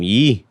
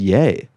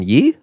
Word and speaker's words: Ye: me call him y oh well I've heard yay is this like tomato tomato I guess you call him ye I every time I read it I just want to say it's spelled y ye he doesn't even call